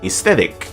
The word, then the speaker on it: aesthetic: A is useless also in aisle and aesthetic.